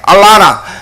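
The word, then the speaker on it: Atlanta: 근데 미국의 남부지방에 알라나 그 재밌는 하는 얘기 지났으니까 이 얘기를 하는 한국 사람이 이제 미국에 갔습니다. 근데 아틀란타 발음을 영어식 남부식으로 봐 알라나라 그래요. 알라나 아들 낳다하고 비슷해요.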